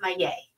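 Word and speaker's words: Maillet: It's pronounced my yay.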